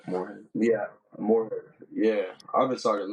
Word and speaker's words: Moorhead: Yeah, Moorhead.